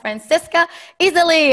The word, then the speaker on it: Franziska Iseli: the kind boss podcast and today i have francesca easily how are you your name was how you pronounce this was excellent thank you and thanks